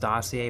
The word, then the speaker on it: dossier: It's pronounced dossier, but it has a R at the end.